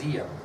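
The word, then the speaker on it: Diệm: Although it's got a D, it's pronounced Diem. And he would be the democratic leader of South Vietnam, No Dinh Diem.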